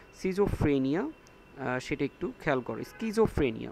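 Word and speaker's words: schizophrenia: four set তো সিজোফ্রেনিয়া সেটা একটু খেয়াল করো স্কিজোফ্রেনিয়া উচ্চারণটা হবে স্কিজোফ্রেনিয়া স্কিজোফ্রেনিয়া এস স্কিজোফ্রেনিয়া এই যে সি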